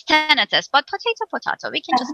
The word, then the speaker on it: tinnitus: So it's the correct one if you want to actually dive into it, is tinnitus.